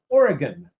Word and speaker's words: Origen: Anyway, I wanted to talk about a gentleman by the name of Origen, which his name is spelled like origin, which is really confusing.